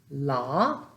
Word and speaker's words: la: La, there's that AH again.